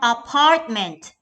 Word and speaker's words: apartment: How about apartment? Great job. Part is the stress syllable for this word.